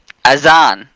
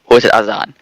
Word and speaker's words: Azan: if you're our fan then say his name azan azan it is called a z and a-z-a-n but